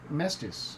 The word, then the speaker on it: Mestas: please pronounce your name our name is Mestas actually it's just said how it's pronounced but there's also my